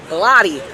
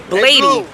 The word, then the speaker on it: Blotty: It's Blotty. Blotty, not Bladey.